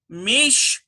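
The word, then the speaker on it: משפט: Number 8, let's see, we've got mishpat. Mishpat. M-I-S-H-P-A-T. Well, that's got to be a dagesh lean because there's no doubling. We just have one P sound.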